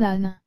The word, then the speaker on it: âne: avec de plus grandes oreilles voici donc un âne le mot sonne se compose de seulement trois